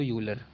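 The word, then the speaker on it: Euler: चलो फिर अब जो यूलर फॉर्म में, यूलर फॉर्म कहते हैं इसको, यूलर। यहाँ पे ई साइलेंट होता है तो यूलर फॉर्म कह सकते हो।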